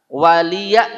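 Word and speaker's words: وَلِيَ: Di sini banyak bacanya waliya pakai a. Waliyadin, lakum dinukum, atau waliyadin salah. Waliya dengan a juga salah. Yang betul waliya, waliyadin, huruf ya betul-betul nampak. Tulisannya memang iya, bukan hamzah, bukan alif.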